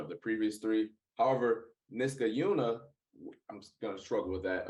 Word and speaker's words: Niskayuna: deck this guy Caillou niska Yuna is how you pronounce that it's Niskayuna let's get Yuna okay there